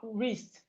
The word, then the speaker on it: wrist: We have wrist. The W is silent also.